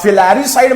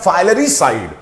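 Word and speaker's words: filaricide: अब फिलैरिसाइड मैंने आपके लिए कहा, बट याद रखिएगा कि इसका रियल प्रोनाउंसिएशन होता है फाइलेरिसाइड। रिमेंबर रखिएगा, फाइलेरिसाइड।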